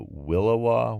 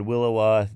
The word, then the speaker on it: williwaw: Some other ones that are that I mentioned at the beginning are the Willowa, which was The Willowa is a wind.